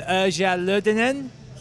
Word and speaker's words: Erja Lyytinen: My name's Matt Stocks, here with Erja Lyytinen. Yes, well pronounced.